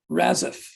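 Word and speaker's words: Razaf: fat swaller with the um music and Andy raziff r-a-z-a-f pronounce that as you will with the lyrics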